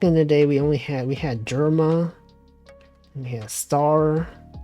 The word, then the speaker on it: Jerma: That's not, he didn't even say the name right. It's so wacky. He pronounced it wrong.